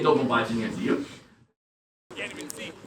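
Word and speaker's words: до побачення: And in Ukrainian, you say do pobachenia. It's only 5 syllables. Wow, it's really long. We'll do it one more time. Do pobachenia. Do pobachenia.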